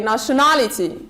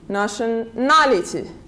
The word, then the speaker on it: nationality: syllable the third syllable so we say nationality nationality then we have the